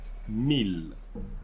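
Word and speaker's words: mille: so 12 mil so you see we said meal that word meal so in french thousands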